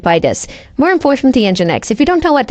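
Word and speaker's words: nginx: this more important the engine X if you don't know what engine X is it's spelled I for some strange reason is spelled n g i n x uh it's an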